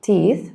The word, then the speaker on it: teeth: Brush teeth. Don't forget the th sound at the end.